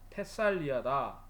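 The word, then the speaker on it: Thessalia: 영어에서는 테살리라고 그러고 오리지널 발음은 테살리아다 하고, 이제 교역을 하는 거는 뭐냐면 현실에 맞춰서 먹고 살아야 되니까 무역을 해야 된다.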